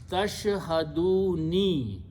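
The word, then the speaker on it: تشهدون: This is the pronunciation is tashhaduni, which means you are present in front of me. The thing is that when Qari stops at the ayat, he pronounced tashhadun. If it is tashhaduna without a ya, he pronounced tashhadun. If it is a kasra, he still pronounced tashhadun.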